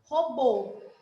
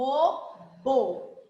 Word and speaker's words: robô: agora eu sei que o circunflexo o som sai mais fechado então eu quero que vocês falem a palavra robô o robô você abriu a boca tanto quanto você abriu para pronunciar a palavra lápis sim ou não não não né porque a palavra robô a sua boca não abriu tanto então tá aí a